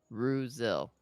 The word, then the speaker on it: Roselle: Roselle, right? Yeah, Ruzil. Got it. like Brazil.